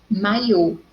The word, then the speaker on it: maio: maiô da gaveta investiu então a diferença maio mai ou então em maio a sílaba forte é mai em maiô no o